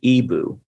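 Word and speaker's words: EBOO: apply it properly so you've recently gone into Ebu now and I wanted to hear you know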